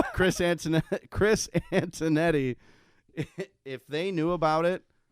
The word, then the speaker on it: Antonetti: Chris Antonelli. Sorry, I butchered his name. Chris Antonetti.